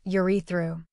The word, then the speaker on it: urethra: The fluid contains enzymes, zinc and citric acid, which help nourish sperm cells and lubricate your urethra, pronounced urethru.